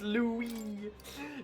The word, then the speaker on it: Louis: Pronounced Louie.